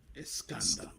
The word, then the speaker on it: Escándalo: Verano del Escandalo. That's how you pronounce it, J Dudes. I covered it first week. Escándalo.